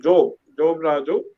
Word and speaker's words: Job Raju: My name is Job Raju. If you have to pronounce it Job Raju. Job is from Bible, but I am an artist.